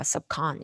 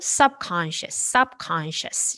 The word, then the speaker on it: subconscious: 요 첫 음절에도 같이 강세가 들어가서 여기는 꺽쇠 발음으로 하셔요. 그러니까 subcon 이렇게 아니고 subconscious 이렇게요.